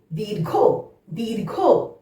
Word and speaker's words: দীর্ঘ: ঠিক একইভাবে দয় দীর্ঘই ঘয় রেফ, ঘয়ের আগে র উচ্চারণ হবে, দীর্ঘ, দীর্ঘ।